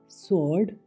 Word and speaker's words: sword: SWORD स्वॉर्ड, Talwar.